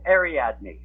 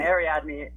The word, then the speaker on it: Ariadne: i can't pronounce it it's uh it's ariadne area and ariadne ariadne is a is a greek name it's actually from